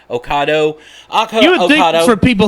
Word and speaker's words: Ocado: Kroger and actually a UK online grocer, Ocado, I guess is how you say it. Ocado. Ocado.